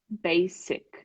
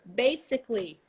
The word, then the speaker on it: basic: basic basic the adverb basically anything that comes from this word is pronounced like a double s basic okay so everybody at